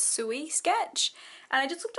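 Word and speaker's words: Sui: I just realized I kept saying Sue as in the name Sue, but it's pronounced Suey because it's S-U-I. So it's Suey sketch.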